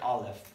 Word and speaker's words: Aleph: Let's talk about the sound that Aleph makes. It actually doesn't make a sound. The letter Aleph is a silent letter.